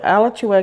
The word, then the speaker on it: Alachua: Robinson was reported and I must say this the best I can Alachua cuz there's two pronunciations county so Alex you a County Sheriff's Office since